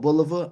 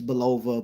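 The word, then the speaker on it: Bulova: guest sponsors was Islander watches uh belov or boua I like to say boua I know the pronunciation is Bova but I've been saying boua my whole life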